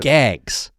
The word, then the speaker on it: GAGs: called uh glycosaminogland or that's how you pronounce it. Gags.